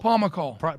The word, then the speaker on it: Pomykal: But so Preston, and how do you pronounce it? Is it Pomykal? Pomykal.